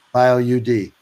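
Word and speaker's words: BioUD: talked about the bio how is it pronounced by oud or bioriod are you d bio UD and so this is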